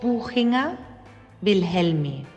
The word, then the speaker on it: Buchinger-Wilhelmi: Espera, voy a pedirle a mi amiga Greta que nos lo pronuncie bien en alemán. Buchinger-Wilhelmi.